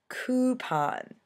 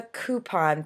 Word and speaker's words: coupon: image avenue alabama lawyer coupon it's a coupon people c o u coupon not coupon if it was coupon it would be spelled c u e i would think um